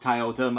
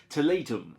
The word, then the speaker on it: Tiletum: of taltum full review yes I know it's not Thai Autumn I think it's a Teleton I think it's the pronunciation for this so it's supposedly Latin for tile and it's kind of